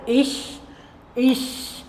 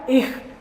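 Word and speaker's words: ich: അതിന് പറയുന്ന പേരാണ് ഇഷ് എന്നുള്ളത്. അതിൻ്റെ അർത്ഥം ഞാൻ എന്നാണ്, അല്ലെങ്കിൽ ഐ എന്ന് ഇംഗ്ലീഷിലുള്ള അർത്ഥം. അപ്പോൾ ഇതൊന്ന് ഉച്ചരിച്ച് നോക്കിയാൽ ഇഷ്. ചിലവരവിടെ ഇഹ് എന്ന് പറയും, അതും തെറ്റില്ല.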